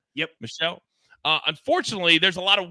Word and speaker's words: Meshell: How do you, I don't want to mispronounce his name. Yep. Meshell.